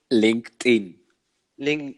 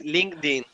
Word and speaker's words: LinkedIn: mal mal mal mal y la pronunciación correcta que sería de la plataforma que estamos hablando ling ling ling en verdad mal dicho mal para que todos entendamos que está mal es linkedin estamos acostumbrados no podemos